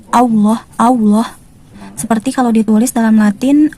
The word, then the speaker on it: Allah: Kalau kita tulis dengan huruf Latin adalah A, double L, kemudian O, kemudian H, Allah. Tapi yang sering kita temukan adalah munculnya huruf W di lafaz jalalah ini. Allah, Allah.